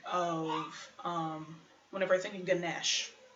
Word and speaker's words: Ganesh: And I think of, whenever I think of Ganesh, not Ganesha, Ganesh, the Hindu do not pronounce the vowel at the end of it unless it's followed by a consonant. It's like the French.